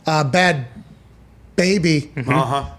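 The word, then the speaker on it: Bhad Bhabie: Bad Baby. The H is silent.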